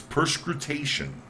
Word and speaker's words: perscrutation: It's perscrutation. Perscrutation. Almost sounds like something perspiring. And it says, phonetically, it says perscrutation. It is the word from French.